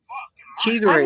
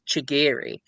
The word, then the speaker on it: Chigiri: Chigory is another one. Chigory vers Chigiri. I don't think I've heard that many people will mess up his name. It's the second way. It's the second way. His name is Chigiri, but I'm just used to saying Chigory now.